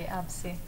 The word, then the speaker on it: AVSI: And today with us in the studio, we have Francesca Oliva from AVSI. From AVSI. Am I pronouncing it properly? Exactly, AVSI.